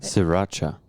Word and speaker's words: Sriracha: What does he think about Shiraka hot sauce? Oh. How do you pronounce that? Sriracha.